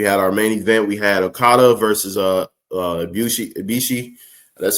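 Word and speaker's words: Ibushi: We had Okata versus uh Bishi Ibishi, that's how you say his name.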